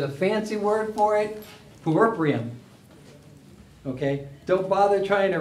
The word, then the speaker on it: puerperium: There's a fancy word for it, puerperium.